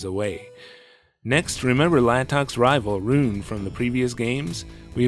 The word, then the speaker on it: Ryune: Rune. It's spelled more like how it's pronounced in Japanese.